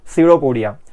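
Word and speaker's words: pseudopodia: आहेत त्यांना म्हटल जात सीडोपोडिया पी सायलेंट स्पेलिंग मध्ये बघा तर रीड करताना त्याला सिडोपोडिया म्हणणार मग तसं आता जर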